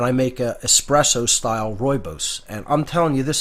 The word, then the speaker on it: Rooibos: all the antioxidants in it Rooibos it's spelled r-o-o-i-b-o-s pronounced Rooibos looks like Rue ebos but it's pronounced Rooibos and it's just it's